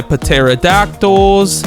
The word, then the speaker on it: pterodactyl: So, I can now go ahead and pick up my pterodactyls. Also, I know it's pronounced pterodactyl, but it's so much fun when you say with a P.